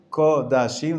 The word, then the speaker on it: Kodashim: Kodashim, the way it should be pronounced.